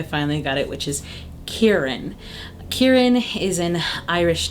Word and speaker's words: Kieran: The name that came in at number 9, we only vetoed it because of my mispronunciation on a regular basis, and I think I finally got it, which is Kieran.